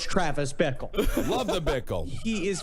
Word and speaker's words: Bickle: It's that name that rhymes with pickle. It's Travis Bickle.